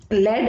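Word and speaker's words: lead: लेड एक metal होता है, लीड मीन्स गिव डायरेक्शन, है ना, दिशा तक जाना, अचीव करना गोल।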